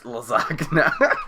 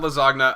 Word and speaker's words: lasagna: how it's pronounced okay imagine if italy it's lasagna it's not lazogna uh gn is why